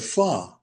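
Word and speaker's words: phở: There are places the restaurants the Vietnamese restaurants where you'll see the name FO um ph but the Vietnamese call it fa.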